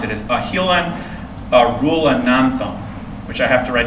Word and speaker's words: Ahilan Arulanantham: Number 5, his name is very hard to pronounce. It is Ahilan Arulanantham, which I have to write down the pronunciation for.